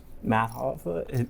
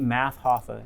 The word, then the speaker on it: Math Hoffa: And Math Hoffa, that's how you say it, Math Hoffa. Yeah, that dude Hoffa is a fucking savage. Like Jimmy Hoffa.